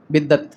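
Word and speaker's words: बिदअत: कहते किसको है बल्कि बाज लोग इसका प्रोनाउंस भी गलत करते हैं बिदत बिदत बोलते हैं इसको बिदत ये बिद्दत नहीं है बिदत है बहरहाल तो सबसे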